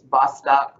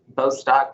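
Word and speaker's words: Bostock: really a landmark case bostok beau stock depending on how you pronounce it i say potato you say data but boston versus clayton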